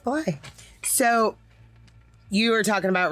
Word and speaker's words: Blythe: I mean, of course it's spelled like Blythe, but like I've learned Blythe, yeah. Yeah, it's just Blythe.